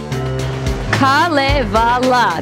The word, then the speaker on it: Kalevala: set start for them Kalevala that is how it is pronounced and it is from